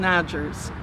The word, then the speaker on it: Odgers: My name is Odgers, O-D-G-E-R-S. Kind of rhymes with Rogers.